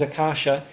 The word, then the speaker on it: Akasha: Uh so the first part of my name is accasha and that it means uh sky or space but it's a radiant space.